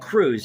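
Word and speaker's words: Krewe: is called I think they're all called Crews it's K re we crew of Isis so crew of Isis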